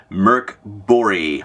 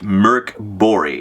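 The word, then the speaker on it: Mörk Borg: a Sci-Fi version of Merc bori my Swedish friends have it for me that is the correct way to pronounce it Merc bori a couple of things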